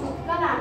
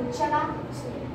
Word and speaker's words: Utkala: I told first one is Utkala. Why you are pronouncing Uchala? First one is Utkala. Then why again Uchala?